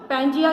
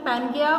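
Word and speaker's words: Pangaea: कहते थे, पैंजिया, और इसकी प्रोनाउंसिएशन पैनगिया और पैंजिया दोनों है। राइट। मतलब इसको जब प्रोनाउंस करते हैं तो पैंजिया भी पढ़ते हैं और पैनगिया भी, और ये ग्रीक वर्ड है, ग्रीक लैंग्वेज का वर्ड है ये।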